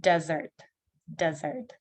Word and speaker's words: desert: Dessert, but desert. И у нас ER не под ударением стало как R.